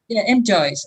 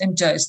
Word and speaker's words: M'Joyes: Maybe you pronounce it differently. M. Joyce. M. Joyce.